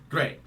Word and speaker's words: GLEAT: pro wrestling slash MMA great and the weird thing about it it's spelled g-l-e-a-t but pronounced great that's right now before